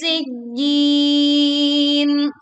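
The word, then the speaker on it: سِجِّينٍ: Sijjin. Tekan pada huruf jim lalu berwakaf dengan panjang 2, 4 atau 6 harokat.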